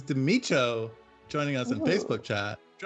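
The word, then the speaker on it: The Mico: just learned this recently how to pronounce his name is Timmy Cho joining us in facebook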